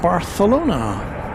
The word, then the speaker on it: Barcelona: Here comes the flight from Baralona. I only say it that way cuz that's how you pronounce that. They have that in Baralona. They have that kind of a lisp associated with the th sound.